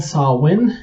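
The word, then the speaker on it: Samhain: Celtic Festival uh it it's uh called sawwin that is not at all how you spell it I'm gonna put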